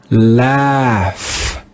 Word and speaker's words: laugh: But in this word, the digraph AU has a different sound. Here we don't read the digraph AU with the sound aw. We read it with the sound ah, ah.